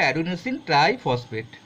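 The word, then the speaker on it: adenosine triphosphate: এটিপি হচ্ছে অ্যাডিনোসিন ট্রাইফসফেট, এই উচ্চারণটা হবে।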